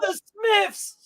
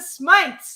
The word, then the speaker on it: Smites: He says, "No, the Smiths." No, not the Smiths, the Smites. He says, Smites. The Smites. He's like, don't say it wrong. Say the Smites.